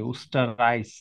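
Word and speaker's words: Österreich: তারপর Villa is আপু এটার উচ্চারণটা কি অস্টরিস হবে নাকি অস্টরিসের অস্টারাইস হয় উস্টারাইস রাইস আছে ওখানে উস্টারাইস দ্যাট ইজ অস্টারাইস আচ্ছা অস্টারাইস আচ্ছা ইয়া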